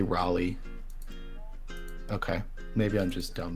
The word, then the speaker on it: Raleigh: let's try let's try vocabulary yeah they say Raleigh okay maybe I'm just dumb then but I